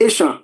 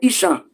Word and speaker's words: Esan: various part of the asan now when you say isan if the British want to pronounce Asa they will say Isa so when you somebody